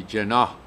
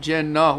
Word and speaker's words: جناح: این جناح اون اوائل عقل داشت، یکی میگم جناح با تشدید، این تلفظ هندی هاست.